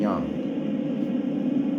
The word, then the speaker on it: yang: Everything is yin and yang. Everything is yin and yang. You say yang, but how it's pronounced is yang.